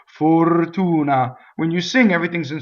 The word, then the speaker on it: fortuna: with the next word the first vowel is closed right the accent is on the Oh right so it's full - nah right full tuna for tuna when you sing everything's